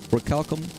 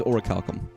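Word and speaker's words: orichalcum: Um, oralum or oricalum. I always said oral. I never know how to pronounce, but it is oricalum.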